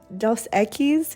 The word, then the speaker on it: Dos Equis: a nice dose eggies dos equis is how you pronounce it but only do that